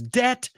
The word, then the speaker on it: debt: to Iron Man says debt rhymes with set and pet that's right